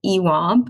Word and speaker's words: EWAB: the first nonprofit is called ewab which is spelled e wab and stands for encouraging